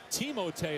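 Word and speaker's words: Timothé: asking us to hurt pronouncing Timo Tay is how you pronounce this verse Timothy Billy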